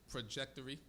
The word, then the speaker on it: trajectory: Upward trajectory. Or upward trajectory. That's what you said. Trajectory. TR, pronounce it as CH.